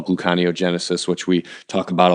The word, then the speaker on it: gluconeogenesis: place so that unit how do you pronounce that I say gluconeogenesis what do you say gluco I think glucose buko gluconeogenesis not gluco neo you know what you